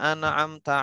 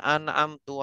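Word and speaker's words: أَنْعَمْتَ: Dia tahu, semua harusnya dibaca Siratal ladzina an'amta alaihim. Dia bacanya Siratal ladzina an'amtu alaihim.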